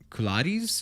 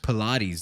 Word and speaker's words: Pilates: fat black chick drinking Gatorade doing like um kiladis is that how you say it pilates pilates there you go doing Pilates and like obviously